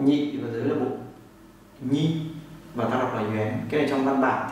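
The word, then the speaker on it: 元: nhị và dưới là bộ nhi, và ta đọc là yuén.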